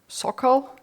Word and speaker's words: Sokal: How do you pronounce his last name? Sokal.